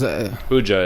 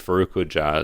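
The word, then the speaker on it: Faruk Hoca: is his name and hja is huja is how they pronounce in the movie Faruk hja is how they and and is a title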